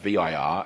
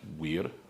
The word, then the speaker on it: vir: That v i r aspect of the word virtue, right? What would be pronounced weird in classical Latin, is literally just the word for man.